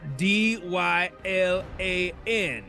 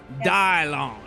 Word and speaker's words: Dylan: It's because my name is spelled D-Y-L-A-N. And most people say that's Dylan, but I'm not one of most people. You know, I'm off the grid. I'm pronounced Dylon.